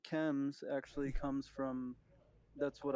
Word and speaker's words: Chems: It's pronounced Chems, like chemical.